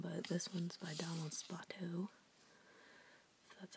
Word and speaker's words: Spoto: I mean, there's tons of them, but this one's by Donald Spoto.